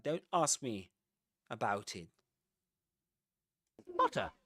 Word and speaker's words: Potter: Potter and granger end with a schwah. Potter. Granger in British English. You don't say porter nor granger.